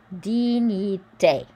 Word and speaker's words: dignité: So remember the GN is a ny sound. I is E. Dignité. Dignité.